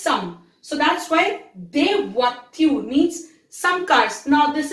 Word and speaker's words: voitures: Now S has been added, so it has become des voitures. Please remember, S is never pronounced.